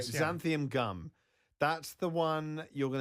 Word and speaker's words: xanthan gum: All right, xanthium gum. That's the one you're going to see it in a lot. It's spelled with an X.